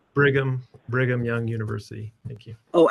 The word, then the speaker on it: Brigham: Anybody else from Bingham Young University? It's It's actually pronounced Bigham Brigham Young University.